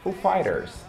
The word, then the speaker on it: Foo Fighters: Só que você vai pronunciar em inglês Foo Fighters. Foo Fighters. Tipo Street Fighter.